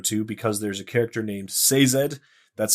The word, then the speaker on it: Sazed: to go to because there's a character named Sazed. That's how the audio book Yes. narrator announce pronounces it.